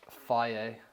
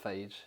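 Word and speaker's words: Fage: So Greek yogurt, Faye, not phage, even as it's spelled like it should be pronounced phage, it's Faye.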